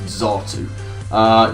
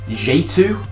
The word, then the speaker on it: Xatu: And I'll maintain it's pronounced Xatu.